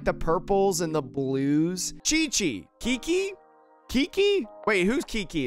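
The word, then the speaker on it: Qiqi: chat cheese sound oh chi chi so it's just pronounced like chi-chi and what does lisa's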